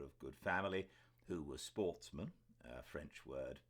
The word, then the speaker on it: sportsmen: up which were of good family who were Sportsmen uh French word pronounced with the accent on the man the